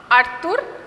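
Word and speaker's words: Arthur: তার নাম হচ্ছে জাঁ আর্তুর র্যাবো।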